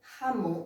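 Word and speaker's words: jamón: Terceira palavra, Ramon, o J sempre tem som de R, Ramon, para quem não lembra, quem não sabe, Ramon em espanhol é presunto.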